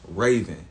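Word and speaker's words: Ravon: only see me as Raven That's my name my name is Raven uh spelled r a v o n so spelled like Ron but pronounced Raven people only see me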